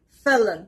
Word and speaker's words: felon: fourth word is felon felon the stress is on the first part felon it means a